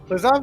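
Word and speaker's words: Lazav: Lazov is I'll pronounce.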